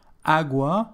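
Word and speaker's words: agua: AGA which means water AGA the shorter word is feminine however the stress is on the first letter A AGA for this reason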